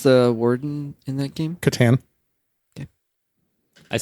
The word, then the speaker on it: Catan: Andy, how do you pronounce the word in that game? Catan.